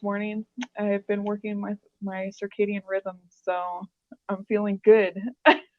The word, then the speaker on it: circadian: that means, working your circadian rhythms. Some Yeah, say so circadian. Is that the proper way to say it? Carcadian. Carcadium. Some people say that. Is it circadium? Circadian, yeah.